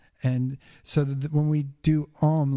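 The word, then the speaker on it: ॐ: The AU is pronounced O in Sanskrit. That's why we chant Om.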